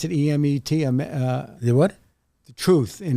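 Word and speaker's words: אמת: it's how do you pronounce it? E-M-E-T?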